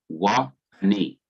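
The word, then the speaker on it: וַאֲנִי: originally under the waw, giving you wa, W-A, a short A sound, wa, wa-ani, and I, wa-ani.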